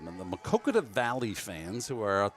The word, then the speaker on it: Maquoketa: vality fans who are makoka I keep I keep adding extra syllable I'm sorry about that the makoka valley fans who are